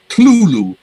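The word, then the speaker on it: Cthulhu: all right yes yes you noticed that i said clulu two syllables okay there was a letter in night he wrote in 1934 in which he specifies the exact pronunciation of this term um you're using you know the phonetic thing you know whatever you use you know diacritical marks and you know whatever and he says it's two syllables it's not kerthul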